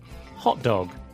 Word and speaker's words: hot dog: So try saying hot dog with an equal stress on both words. Hot dog. This means a dog that is hot. Then say it again with the stress on the first word. Hot dog. That's a type of sausage snack.